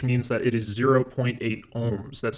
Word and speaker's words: ohm: The variable for resistance is capital R, and the unit is capital omega, which we pronounce as ohm.